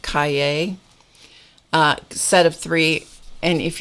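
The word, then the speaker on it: Cahier: this is the moleskin Kaye that's how you pronounce that Kaye set of three and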